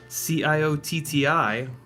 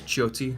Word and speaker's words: Ciotti: hey by the way CIO TTI is pronounced Ciotti guys probably didn't know that well it's not actually pronounced iottie it's it's the Italian pronunciation is Jyothi CI is CH in Italian but that was born